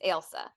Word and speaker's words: Ailsa: So this is one of those, like, it's not Elsa like Frozen, it's Ailsa.